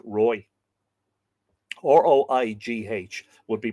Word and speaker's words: Roig: Now, it's spelled differently here. R-O-I-G, Roy. I think that's how it's pronounced, Roy.